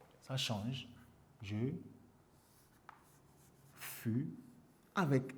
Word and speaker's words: je fus: je F ça change je fus avec S vous voyez tu fu il faut faire attention ici à la prononciation en le confondant avec je fi va il va il